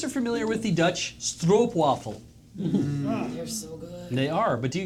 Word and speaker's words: stroopwafel: we always say stroopwafel because to us that looks like like Stroupe rhymes with stooped to us right but it is strop waffle stroopwafel and so this is